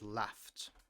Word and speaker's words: laughed: Whenever a word ends with a f sound and then you add e d, the sound is t.